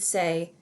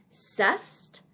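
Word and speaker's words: c'est: a friend you would say and a lot of times people pronounce this see c apostrophe e-s-t as cest but in french they say the word say it sounds like how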